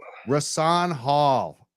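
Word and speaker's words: Rahsaan Hall: sure it's rason Hall the H is silent rasaan Hall it's a it's a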